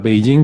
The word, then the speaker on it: Beijing: Cuando realmente la pronunciación se parece más a Beijing, pero bueno, era la forma en la que ellos lo escribían.